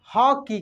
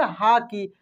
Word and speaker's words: हॉकी: Check करेंगे, कैसे बोलेंगे, हाकी, हाकी नहीं हॉकी, हॉकी, हौ ओ भी नहीं होगा, आ भी नहीं होगा, उसके बीच का होगा हॉकी, समझ रहा है ना।